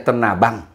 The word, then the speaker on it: Tenabang: Iya, katakanlah saja Tenabang. Kita bacanya bukan Tanah Abang, Tenabang. Itu kan artinya panggilan bumi.